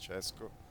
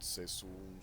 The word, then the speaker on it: Cesco: Then we have Supply Side Bill, myself, Cesco. For people who wonder what is the pronunciation of my name is Cesco. That derives from Francesco, not Sesun, Seskun, or whatever you wanna call it.